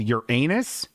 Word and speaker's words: Uranus: Eric Dimler says, "Bingo dog, have you ever heard about the this planet called Uranus? It's pronounced like your anus.